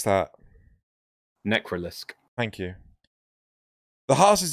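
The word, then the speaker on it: Necralisk: How do you pronounce that? Necrolisk.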